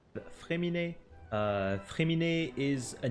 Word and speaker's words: Fréminet: In English, most people will pronounce it Fréminet, but the real name is Fréminet.